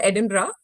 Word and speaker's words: Edinburgh: oh, it's pronounced Edinburgh. I also learned it वहां जब मैं स्कॉटलैंड पहुंची मैं भी एडिनबर्ग से शुरू की थी. Okay, Then people were great, like, we call it Edinburgh.